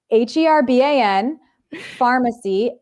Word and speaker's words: Herban Farmacy: See, no H on there. The Herban Farmacy. You know what? Spell it out. Herban, because this is audio. It's Herban Pharmacy, Pharmacy.